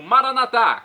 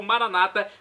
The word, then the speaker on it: Maranata: de Jesus eu clamo maranat como dizemos nós católicos ou Maranata como dizem nossos irmãos separados os evangélicos ou protestantes não importa pronúncia o significado é o mesmo vinde Senhor Jesus um